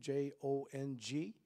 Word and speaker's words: Jong: Also pray for a man named Jong, J-O-N-G, or maybe it's J-U-N-G, but nevertheless it's pronounced as Jong.